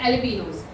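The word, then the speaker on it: jalapeños: कि मैं पूछती तुमको जेस जे साइलेंट होता है। ठीक है? जे के बाद ए ही आता है बट जे साइलेंट होता है। ठीक है? तो अभी एलपीनो स्टार्ट हो रहा है जे से।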